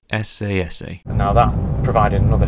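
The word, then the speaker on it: Esse Esse: Or as it should be pronounced, SASA.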